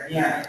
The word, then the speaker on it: Miami: o Miami, no sé, porque la palabra se pronuncia Miami, como lo es en el diccionario panhispánico de dudas.